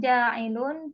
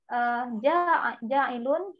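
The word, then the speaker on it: جاعل: Ja'ilun here is iradatul hadas. Because ja'ilun rhyme with fa'ilun.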